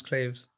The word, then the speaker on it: claves: are like i think they're called claves that pronounce claves but yeah it's got